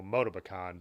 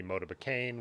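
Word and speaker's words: Motobécane: dad's moto pecan and i've heard it say by french people motiba khan but other people have made fun of me for that too you know obviously a more anglicized pronunciation the way it looks would be motiva kane which is fine but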